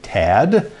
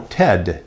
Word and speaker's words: Ted: people my name, because they'll say Tad, they'll say Ned, I'll say no, Ted, T-E-D.